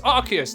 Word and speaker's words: Arceus: me pokemon legends arceus even though everyone says i say it wrong whatever whatever okay it's arceus to me okay just deal with it